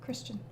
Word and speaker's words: Kristen: also small quib but my name's pronounced like christian just with a k oh sorry i was just thinking that as you wrote that i was like how do i say it so christian ah see shale almost